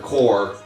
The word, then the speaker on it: corps: Well, they're called the Green Lantern core, but it's spelled like C O R P S.